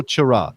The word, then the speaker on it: Chara: just put put jimmy it's also churra technically speaking so much about who